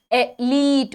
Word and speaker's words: athlete: The pronunciation of th is always little tricky, ठीक है. So remember an athlete's speed and enunciate the th as best as you can, ठीक है.